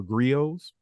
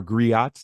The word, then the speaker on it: griot: But I also see him as one of our griots, our griots, depending on where you're from. I'm from Louisiana. We don't pronounce the T.